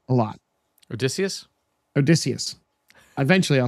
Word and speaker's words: Odysseus: Like in my home base right now, I talk to Odysseus a lot. Odysseus? Odysseus. Eventually I'll say his name right. Just think Odyssey when you say his name.